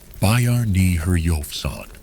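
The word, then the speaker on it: Bjarni Herjólfsson: The first European to site the North American mainland was likely a man named Bji Herchen, which is pronounced roughly as Bayern Herofan.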